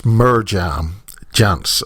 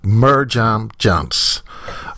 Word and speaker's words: Mirjam Janse: Ladies and gentlemen, the way you spell Mirjam is pronounced in the English language as Mirjam Janse, okay? Mirjam Janse, okay?